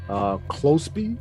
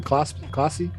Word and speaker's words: Clopsy: Closby, is that how you say his name? Clopsy. Okay, Clopsy, Germ, Impression, Roboplex.